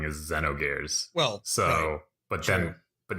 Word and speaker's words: Xenogears: square Enix conference speaking of which it's also Xenogears not Xenogears I know it's throwing that out there yeah I'm sure I mispronounced all of these let's and just blame